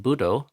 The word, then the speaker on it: Buddho: So, the first D in Buddho, Buddho, the first D is closing the first syllable. We say but. We don't say but, we say but. So the D is closing off the air, restricting the air, and stopping sound from coming out.